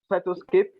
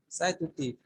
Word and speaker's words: Cytoscape: Cytoscape, What did you call it? Cytoscape, Can you spell that? CYTO, CYTO. CY, Okay, CYTO. Okay. SCAPE. STAPE. Cytotape. No, it's C, not T.